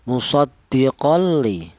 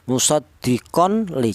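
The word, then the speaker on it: مُصَدِّقٌ لِ: Musoddiqolli. Jangan dibaca jelas atau idhar seperti contoh musdiqon li jangan.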